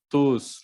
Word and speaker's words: tous: Je les veux tous, los quiero todos. En este sentido tenemos que pronunciar la S.